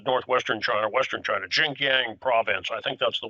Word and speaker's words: Xinjiang: And certainly, and that's Jim was talking about what's going on, and he said northwestern China, western China, Xinjiang province. I think that's the way you pronounce it.